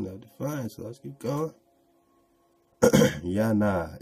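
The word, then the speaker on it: יונה: difference let's get going Jana is the Ebru way to pronounce the name familiar to all of us Jonah who was swallowed by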